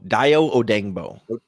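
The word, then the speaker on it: Dayo Odeyingbo: Odengbo, Dio Odengbo. It sounds way easier than it looks on paper. I always think of it as like I think it was like, oh dang, Bo, you know, like OH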